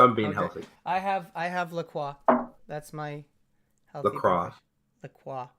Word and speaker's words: La Croix: I have La Croix. That's my healthy. La Croix. La Croix. You pronounce the R.